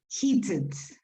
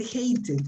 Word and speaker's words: heated: see some things uh be careful with pronunciation uh heated heated okay eat it because you said hate it i hate it i think it's exactly the opposite of what you wanted to say you don't hate beer